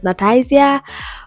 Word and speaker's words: Nataizya: So Nati or Nat, I just pretty much would love if people just pronounce my whole name as Nataizya.